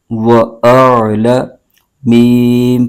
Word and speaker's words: وَأَعْلَمُ: بغیر کھینچے پڑھیں گے۔ ہجے یوں کریں گے، واو زبر و، حمزہ عین زبر آ، لام زبر لا، وَأَعْلَ، میم پیش مو، وَأَعْلَمُ مَا تُبْدُونَ، میم پر